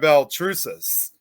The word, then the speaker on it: Baltrusis: Please welcome, of course, Belrus.